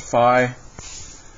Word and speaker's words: Phi: is this part which is minus Phi it's pronounced Phi so remembered like if you're in college sometimes